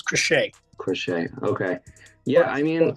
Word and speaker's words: Crochet: And a guy that we were looking at, Garrett Crochet. Is that how you say his name? Has signed with the Red Sox. Yeah, it's Crochet.